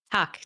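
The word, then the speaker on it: tack: you in Swedish how how do you say it tuck t a k tuck tuck tuck tuck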